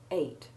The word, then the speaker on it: ate: Having said that, I should mention that you will also find the alternative spelling ATE for the simple past tense ate, and sometimes you will hear it pronounced with the long A sound, ate. But the more usual pronunciation for both spellings is the short E1 sound, and the more usual spelling is EAT.